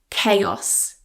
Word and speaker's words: chaos: Now in English, you may already know that ch is usually a ch sound, but here it's a c chaos. Chaos.